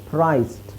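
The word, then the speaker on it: priced: ಇದೇ ತರ ನೀವು ಬರಿಬೇಕು ಪಿ ಆರ್ ಐಸಿಇಡಿ ಓದಬೇಕಾದ್ರೆ ಡಿ ದು ಉಚ್ಚಾರಣೆ ಅಂತ ಓದಬೇಕು ಪ್ರೈಸ್ಟ್ ವಾಯ್ಸ್ಟ್ ಓಕೆ ನೆಕ್ಸ್ಟ್ ಹಾಗೆ ಎಫ್ ಬಂದಾಗಲೂ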